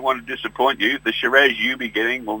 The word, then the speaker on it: Shiraz: the conversation, they sell some very, very nice Shiraz. Yeah. I believe you have to purchase one today, Rob. Neil, I don't want to disappoint you. The Shiraz you'll be getting will not be coming from Chateau Mountainside Wine.